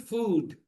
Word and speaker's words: food: Good food. Good food. Look at the phrase good food. That's why English pronunciation is very weird.